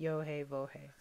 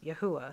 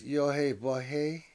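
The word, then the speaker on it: יהוה: So today, they pronounce the letter Yah, Ha, and then instead of Va, they use Ooh, Ah. Yes. I love the way it sounds. Okay, we use Yohe Bohe as a starting.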